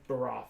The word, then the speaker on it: Baroth: Baroth. It's like Barovia.